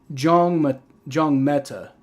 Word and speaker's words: Njongmeta: So Muma Jongmeta. Okay, so the end's just silent, so it's Jongmeta. So Muma Jongmeta is how you pronounce his name.